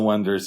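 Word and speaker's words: Oneders: So, it's basically about this group who calls themselves the Wonders, even though it's spelled the Oers. Oners. Oers. O N E D E R.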